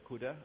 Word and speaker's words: cdr: And there's a CUDA. Okay, CDR is pronounced CUDA, car and CUDA.